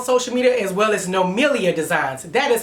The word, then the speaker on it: NoMilliaDesigns: TrinityComedy on social media, as well as NoMilliaDesigns. That is how it's pronounced. People be like, NoMillia.